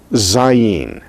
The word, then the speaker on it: zayin: in just a moment next letter is zayin zayin this is like the zeta of greek it is the z sound of english it is what we